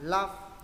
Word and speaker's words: love: Ở đây hai đứa để ý cẩn thận chữ này đừng đọc là lớp, âm là âm A phải đọc là love.